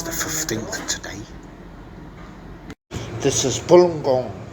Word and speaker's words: galunggong: This is galunggong.